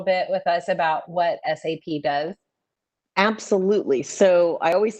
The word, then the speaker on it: SAP: with us about what SAP does? Absolutely. So I always say the S in SAP doesn't stand for sexy. It is pronounced SAP, not SAP.